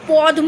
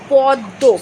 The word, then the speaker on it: পদ্ম: সুবিধার জন্য করা হয়েছে আমরা কিন্তু পদ্ম বলি না বলি পদ্ম কিন্তু বানান থাকে কি প দয় ময় পদ্ম সেটা হয়ে যাচ্ছে প দয়ে দ এ পদ্ম সেটা কি ধরনের সমীভবন